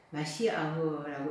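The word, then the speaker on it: מָשִׁיחַ: 그리스도 예수, 그리스도는 헬라어로 크리스토스라고 읽습니다. 히브리어로 마시아흐라고 읽는데요.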